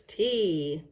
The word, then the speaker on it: tea: Number 30 is tea. Another popular hot drink. Tea. T-E-A. Tea. Tea. If you notice, there's an A on the end of the word, even though it is silent.